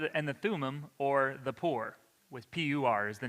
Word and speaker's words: Pur: But yes, it was the Pur, which is pronounced Pur, but it's P-U-R, so some say pure, or the Feast of Purim.